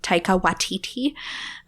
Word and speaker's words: Taika Waititi: Last week's episode was Jojo Rabbit, which is an excellent movie by Taika Waititi. Watiti. You were right. Taika Waititi. Yep. It's like, am I saying it right? Because there's so many eyes.